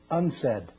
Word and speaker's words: UNCED: It is pronounced Unsaid.